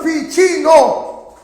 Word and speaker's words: Ficino: Otro grande, Ficino, se escribe Ficino con C, se pronuncia Ficino.